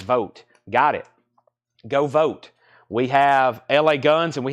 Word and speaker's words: Vogt: Joshua vote Joshua vote Vogt is pronounced vote got it go vote